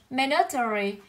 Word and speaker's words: mandatory: Ý C cô sẽ có từ đọc là mandatory.